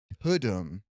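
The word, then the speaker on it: Tudum: want to say that Tadum is the Netflix thing. I get that. But let's remember that Tutum is originally Law and Order cuz Todd is the accent is on the Doom.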